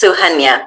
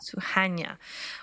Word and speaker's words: Suhanya: It's Suhania. Suhanya. Well, welcome, Suhanya.